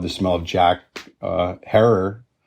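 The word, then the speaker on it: Herer: smell of Jack uh error rhymes with Terror or train wreck right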